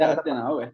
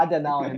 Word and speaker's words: Adenauer: num projeto numa fundação na Alemanha, a Konrad Adenauer, depois ele pronuncia corretamente esse nome. Konrad Adenauer, tá certo. Adenauer, mil perdões.